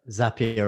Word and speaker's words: Zapier: makes sense zaps zapier zapier rhymes with happy i remember that nice